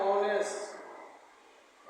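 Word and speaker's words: honest: लेकिन इसका उच्चारण हो जाएगा एक्सीलेंट है। ऑनेस्ट ऑनेस्ट एक्सीलेंट है। किससे लिखा गया? ओ से लिखा गया। इसलिए इसमें हो जाएगा एन ऑनेस्ट।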